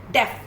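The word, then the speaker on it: deaf: Now come to the third sound of EA. इट इज ए. अभी इसमें पहले ई silent था और इसमें ए साइलेंट है, और ई की ए साउंड आ रही है. The first word is डेफ.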